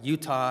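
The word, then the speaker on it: Eutaw: Her grandfather, or great-grandfather, no one knows why, was in a town called Utah, Alabama. That's spelled E-U-T-A-W, Alabama.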